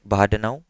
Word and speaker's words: Bahdanau: तो उसके लिए एक पेपर आया है 2015 में, बाहा, इसकी स्पेलिंग बहुत ज़्यादा अजीब है, बट ये बंदा है एक बाहाडनाउ, और इसका पेपर था जिसमें इसने अटेंशन मैकेनिज्म को इंट्रोड्यूस किया था इन 2015।